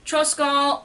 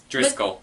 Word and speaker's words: Driscoll: recently saw the 1950s Treasure Island starting boppy triskele I Driscoll Driscoll I mispronounced this last time I'm sorry he's the